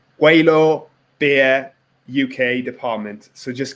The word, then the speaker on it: Gweilo: Gweilo Brewing.